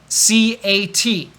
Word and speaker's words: cat: listen to me cat did you hear t no there is no T when I say cat because I stop really quickly you could say cat